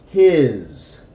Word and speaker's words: his: His. And the S is going to have a Z sound.